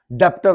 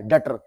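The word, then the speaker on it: debtor: Recovery, loan दिया तेरे को, तू मेरी डेटर है, डेप्टर नहीं, बी साइलेंट होता है, डेटर, डेटर।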